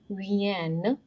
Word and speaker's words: viennent: Les amis de Paul viennent, ENT is silent here, viennent ce soir.